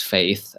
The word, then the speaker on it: F8: oculus chat had its f8 conference which is supposed to pronounce faith and that is really